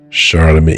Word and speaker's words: Charlemagne: Charlemagne.